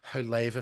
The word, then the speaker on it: Haver: So, I'm doing the Hava family murders. It's spelled Haver Wh. But they pronounce it Hava.